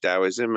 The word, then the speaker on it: Taoism: So, Dowoism spelled with a T but pronounced with a D. Uh, T A O I S M and um but yeah, it's pronounced Daoism and and uh very